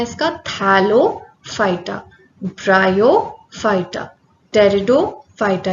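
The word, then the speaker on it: Pteridophyta: Cryptogams में आते हैं आपके थैलोफाइटा, ब्रायोफाइटा एंड टेरिडोफाइटा। ये पी जो है यहाँ पे साइलेंट है, तो ये क्या है, टेरिडोफाइटा, ठीक है।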